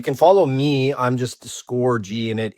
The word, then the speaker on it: Scorgie: I'm just Score G and it it's a play on my name. My name is spelled S O R G I E, but it's pronounced like score space big G.